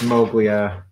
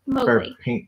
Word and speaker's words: Mowgli: Thanks, Moglia. Mowgli. Thanks, Mowgli. Yeah. I'll never remember it. I know. I also often get it wrong, despite knowing absolutely how it's pronounced.